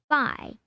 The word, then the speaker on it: phi: often referred to as phi pronounced by and rhymes with pie the greek letter looks